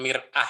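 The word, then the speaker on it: مرآة: Kemudian mir'ah ya bacanya, mir'atun sahih ya. Kalau mar'ah itu perempuan, woman. Mar'ah, mir'ah. Jadi hanya bunyinya saja sudah bisa beda makna ya.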